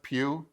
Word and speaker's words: Pugh: But Midsommar had Florence Pugh. You say her name Pugh? It's Pew, like Pew Pew.